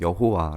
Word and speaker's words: 여호와: 그렇게 읽어야 하는게 맞는데 아도나이 라고 하는 말과 이제 발음 기호를 연결시켜서 여호와 라고 그렇게 우리가 읽게 되는 거에요 야외 라고 읽기도 하고요 그래서 이제 너희 조상의